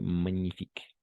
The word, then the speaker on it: magnifique: Ok, et une fois encore, la combinaison de consonnes G et N, on va toujours prononcer comme un N, d'accord? N, comme magnifique. Ok, magnifique.